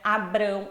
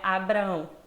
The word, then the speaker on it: Abraão: Como o nome de Abraão, que não é Abrão, é Abraão.